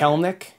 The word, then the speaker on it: Kelenic: believe it's jared kellnick i think there's not a third syllable when you're pronouncing kellnik yes i believe that